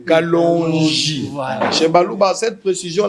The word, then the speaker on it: Kalonji: Non, c'est pas Kalonji. Chez nous il y a des prononciations. Kalonji.